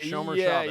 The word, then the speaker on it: Shomer Shabbos: Shomer Shabbos. Is that how you say it? Shomer Shabbos.